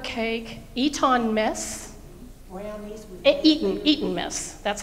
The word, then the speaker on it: Eton mess: Brownies with Eton mess.